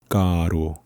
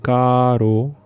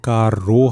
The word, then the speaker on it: caro: 먼저 따로 할 때 가로 2 r 발음을 너무 굴리다 보면 는 이런 부분에서 실수를 많이 해요 까 로 하시는 분들이 간혹 있어요 갈아 로워 하면 그 알을 걸렸을 때는 r 콜린 다음에 있는 모음이 강세가 될 확률이 되게 높아져요 그래서